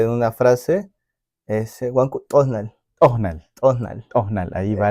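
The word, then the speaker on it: t'osnal: Es prácticamente como hacer contraer la lengua con los dientes para que tenga ese sonido que, por ejemplo, es asimilemos un sonido de un chasqueo de los dedos.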